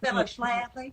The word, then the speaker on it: Phyllis Schlafly: Have you met Phyllis Schlafly? After the H and after the F.